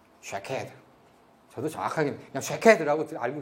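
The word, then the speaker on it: שָׁקֵד: 근데 이 아몬드, 이 살구나무가 그 히브리어로는요, 발음이 쉐케드입니다. 쉐케드.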